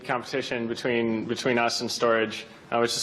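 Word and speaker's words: Storj: cloud storage platform which is fast it's cheap and is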